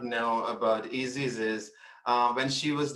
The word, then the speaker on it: Isis: here today uh i'm i'm easys that's how you pronounce my name so yeah i just